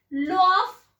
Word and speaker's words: Lwoff: तो introduce by virion, introduce by लॉ ऑफ, देखो spelling का ध्यान रखिएगा, LWOFF, लॉ ऑफ Anderson and Jacob.